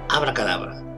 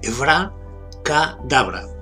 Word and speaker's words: abracadabra: Lo primero es que lo pronunciamos mal porque lo pronunciamos en castellano. Y son dos palabras que son de origen hebreo y una de origen arameo. Por tanto, hay que pronunciarlo en hebreo-arameo. Sería Evra, con acento en la A, Evra Kadabra.